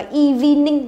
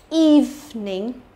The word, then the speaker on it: evening: Evening, evening, miệng căng ra và nhớ từ này không đọc là evening, nhớ chưa? Nó chỉ có hai âm tiết thôi là evening, evening, ok?